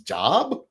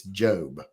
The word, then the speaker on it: Job: Because I saw people, when I was younger, I see people whose name is Job, and I'd think their name's Job. But it's Job.